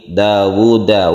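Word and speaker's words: داوُد: Dawuda, wawunya cuma satu, tetapi membacanya itu kan panjang.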